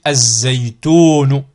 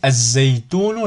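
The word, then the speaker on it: الزيتون: Ici, az-zaytunu. Vous voyez, az-zaytunu, je n'ai pas prononcé le lam.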